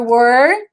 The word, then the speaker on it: were: Was, were, cuidado com o were, que eu também puxei muito a questão da pronúncia, né? Não é where é outra coisa.